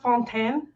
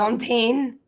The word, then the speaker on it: fontaine: Um it's pronounced fontan. So, not fine. Fontaine.